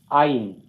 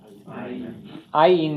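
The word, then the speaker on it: עין: The first syllable is accented here. Ayin. Ayin means an eye. It kind of sounds like I.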